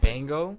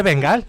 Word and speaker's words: Bengal: Se dice Bengal. How do you say it? South Asia. How do you say it in English? Yeah, it's Bengal, like a Bengal. Like a Bengal tiger.